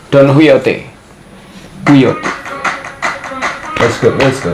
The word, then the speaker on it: Don Quixote: Huy bacanya guys. Don Huyote.